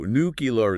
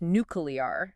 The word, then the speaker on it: nuclear: nuclear nule with the emphasis on the second syllable that's right okay so nucar is kind of like the informal version you could say that but in formal settings like a news broadcast or a political speech nuclear is definitely the way to go it's like